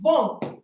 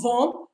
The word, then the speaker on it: vont: Please, it's vont. It's not vont. We don't pronounce the T, okay? Ils, elles vont, meaning they are going.